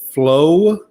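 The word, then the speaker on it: Flowe: he's going to Arizona Justin flow I think is how you pronounce his last name it's f-l-o-w-e there's an e on it but I still think it's flow um is how you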